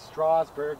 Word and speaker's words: Strasburg: names right right so what looks like Strasburg or or or Strasburg it's Strasburg right and what looks like